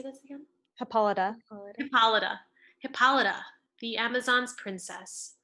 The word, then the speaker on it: Hippolyta: Hippolyta.